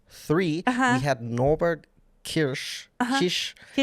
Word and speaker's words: Kiss: We had Norbert Kirish Kish. Kish. Um, like the the the reigning or like the the Hungarian races. Yes. Spelled like Kiss but pronounced Kish.